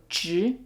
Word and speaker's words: 执: So in order to say 执, it's kind of like saying the word jerk, but without the K sound, so 执.